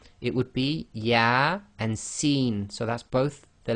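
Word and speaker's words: يس: with these single letters they effectively are pronounced as the name of the alphabet not the sound so here you cannot say y it would be yah and seen so that's both the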